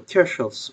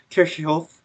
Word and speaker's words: Kirchhoff: So I think the correct pronunciation of German name is Kirchhoff, and you'll see it pronounced as Kirchhoff by some people, and maybe Kirchhoff by some other people.